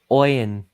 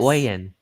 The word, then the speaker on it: Oyen: Oh, it looks like I finally pronounced something wrong. Oh yeah, So Bobby Oyen? says Oyen. Yes. Oyen.